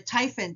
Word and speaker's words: Typhon: this pearl is a typhon tip on setting up defaults so what is typhit well it's your friend and it rhymes with hyphen it's a program that